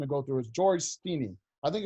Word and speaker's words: Stinney: for the execution to go through his George Stinney I think it's highly pronounced it's teeny tiny it's George's STI and